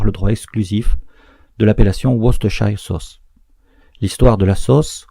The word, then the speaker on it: Worcestershire: nom imprononçable, la sauce Worcestershire, qui s'écrit différemment qu'elle se prononce. On se doit de ne pas prononcer en anglais la seconde syllabe.